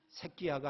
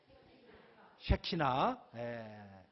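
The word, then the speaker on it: שכינה: 발음을 잘 하셔야 돼요. 새끼야가 아니라 뭐라고요? 쉐키나.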